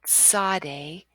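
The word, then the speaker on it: צדי: next consonant is the Sade Sade it's that t s sound as in myths or pizza Sade and the Zodi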